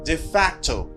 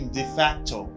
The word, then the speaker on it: de facto: Là on dit de facto. De facto. La kay nou li prononce comme de facto en français tout, mais en anglais il prononce comme de facto.